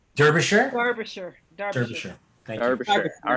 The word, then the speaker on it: Derbyshire: Quick note on pronunciation. Is it Derbyshire? Ooh, Derbyshire? Derbyshire? Derbyshire. Derbyshire. Thank you. Derbyshire.